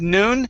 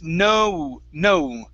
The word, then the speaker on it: known: Up here, you were focusing more on the oo sound, pronouncing it as noon. Instead of noon, it's known. Okay. It's been known.